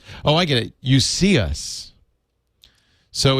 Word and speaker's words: Cius: You see us. So it's not as it's only 7 inches, so it's not as big as the iPad. It will run Android. It is pronounced See Us.